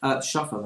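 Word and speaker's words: שפל: Yesh Shefel V'Niskar, there's a person who could be lazy and rewarded, V'yesh Shefel V'Nifsad, and a person who, Shafal as it pronounces it there, and a person who could be lazy and lose out.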